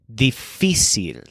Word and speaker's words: difícil: money for these fees his word for difficult is difficile so it sounds like the word difficult but the stresses on fee difficile on the right side